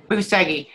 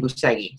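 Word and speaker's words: Bucegi: So it was a few months ago, and Milos brought up Buceghi. And I know that's not how you say it. I do believe the Romanians say it Buceg, but we've just been saying Buceghi.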